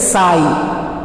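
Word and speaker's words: ψ: साई means that is stand for wave function and इट इज प्रोनाउंसिएटेड एज साई.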